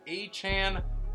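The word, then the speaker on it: Achane: to running backs tier three starts with Devon aan don't like it actually hate it but that is how he says it's pronounced so we're going to run with it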